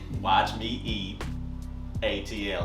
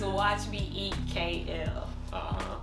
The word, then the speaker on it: watchmeeatkl: Did I say that right? No, you said it wrong. Well, say it for everybody. Say it for the audience out there. Since I'm so terrible at it. It's Watch Me Eat KL.